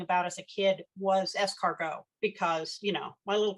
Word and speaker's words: escargot: I learned how to how to pronounce it that it wasn't escargot um I I was